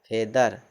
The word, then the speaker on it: feather: FEATHER, ई ए के बाद THE हो तो FEATHER फेदर, FEATHER फेदर, फेदर मतलब पंख।